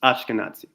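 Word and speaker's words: Ashkenazi: my fault that they sound similar okay it's ashkanazi you pronounce it correctly so it would be your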